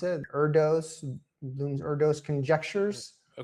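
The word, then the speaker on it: Erdős: how to pronounce it erdos blooms erdos conjectures okay I think it's erdosh I think erdosh conjecture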